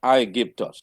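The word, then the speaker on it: Αἴγυπτος: a i and then you have the soft breather or the smooth breather that way otherwise if it's the other way we will then say then it's gonna sound as I give to us so that's not what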